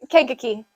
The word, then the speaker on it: Kankakee: in Kankakee thank you Kankakee it's kind of like Kentucky uh it sounds like a kid trying to pronounce the word yes I never heard